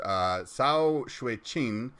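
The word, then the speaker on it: 曹雪芹: First one is Story of the Stone by an author whose name I am about to brutalize, but I believe it's pronounced Cao Shui-Qin, and he was a 18th century Chinese novelist.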